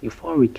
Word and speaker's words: euphoric: Euphoric has three syllables. We have you like in university, and for like in fork, and rig with an E, a short E sound like in ship. Euphoric. The stress is on the second syllable, for, euphoric.